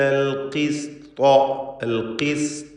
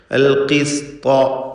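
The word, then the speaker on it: القسط: അഥവാ സീനിന് സ്വാദ് പോലെ ശബ്ദമായി പോകരുത്. ഖാഫ് ഇപ്പറവും ശേഷം ത്വാവും വരുന്നത് കൊണ്ട് സീന് സ്വാദ് പോലെ പലരും തെറ്റായി പറഞ്ഞു പോവാറുണ്ട്. അത് സൂക്ഷിക്കേണ്ടതാണ്. ത്വാഇനും തഫ്ഖീം കൊടുക്കുക, തടിപ്പിച്ച് ഉച്ചരിക്കേണ്ട അക്ഷരമാണെന്ന് പറഞ്ഞുവല്ലോ. അൽ-ഖിസ്ത ലിയൗമിൽ ഖിയാമത്തി, ഇവിടെയും ഖാഫ്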